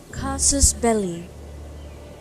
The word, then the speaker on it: casus belli: See how they say it. Casus belli. Casus belli.